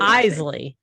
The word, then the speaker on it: Isley: is Lay or is lie how do you pronounce it Eisley yeah you're not even close enough um you